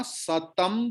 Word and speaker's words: सतं: अनुस्वर के बाद अनुस्वर के बाद प है. सो प वर्ग की लास्ट लेटर है म. ओके. दैट इज वाई अनुस्वर की प्रोनाउंसिएशन होगा म जैसा.